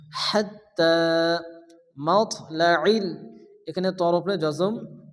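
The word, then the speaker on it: حَتّٰى: টান দিয়ে পড়তে হবে সালামুন সালামুন হিয়া হিয়া হাত্তা এখানে তার উপরে খারাপ জবর 11 পরিমাণ টান দিয়ে পড়তে হবে হাত্তা আমরা যে ইয়াটা দেখতেছি ইয়া হচ্ছে রসমুল খাত লেখা আছে কিন্তু উচ্চারণ হবে না হাত্তা মাতলাল এখানে তর উপরে জজম তল করা হালকা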